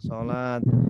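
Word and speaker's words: الصلوة: Ini cara penulisan aja ini. Cara penulisan aja. Ini cara bacanya sholat.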